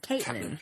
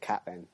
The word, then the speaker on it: Catelyn: Why do you guys call her Catelyn? It's Caitlyn. Caitlyn Yeah, Forsyth. some people call it Catelyn. Because they don't know how to say stuff.